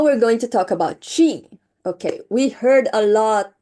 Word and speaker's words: qi: It's pronounced qi is the vital life force that flows through all living things, okay?